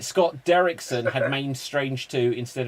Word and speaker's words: Derrickson: i wish scott dicket dick derrickson i keep saying dickinson i was like that's not right right son right scott derrickson had made strange two